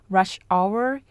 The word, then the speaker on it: rush hour: to 6 30 pm notice that rush hour is a compound noun with the main stress on the first word we just miss it